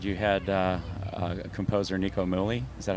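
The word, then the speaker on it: Nico Muhly: on the record you had uh a composer Nico mly is that how you pronounce his name Nik mly yeah yeah tell us a little bit about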